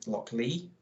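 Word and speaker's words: Lochlea: one is from um Loch Lee I'm gonna say pronounce it l-o-c-h-l-e-a so I pronounced it yeah um it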